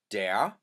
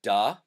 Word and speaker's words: der: The masculine is der, sometimes pronounced as da, depending who your Pennsylvania Dutch speaker is, either der or da.